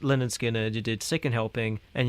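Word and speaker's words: Lynyrd Skynyrd: So, you did like pronounced Leonard Skinner, you did Second Helping, and you did Nothing Fancy.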